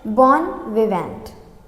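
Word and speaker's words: bon vivant: विवेन इसको T silent है। इसमें बोर्न वी वेन इसको पढ़ना है। और वेन जब हम पढ़ेंगे तो यहां पे थोड़ा सा नेज़ल नोज़ पे हमारे थोड़ा सा साउंड जाएगा।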